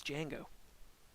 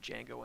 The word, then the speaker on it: Django: he says to him the d is silent and it's uh it's